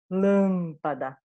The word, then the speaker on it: lâmpada: quase todos os casos vejam aqui lâmpada é lâmpada é a minha sílaba mais forte tá seguida por um